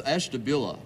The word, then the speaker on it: Ashtabula: Hank Stein from Esther blue how do you say that it's Ashtabula Ashtabula what do you